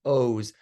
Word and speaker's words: Oz: It looks like Oz. It should be like the Wizard of Oz, but it's an Israeli name, so it's pronounced Oz.